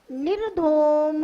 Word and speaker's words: निर्धूम: निर धूम दो टुकड़ों में बोलना है।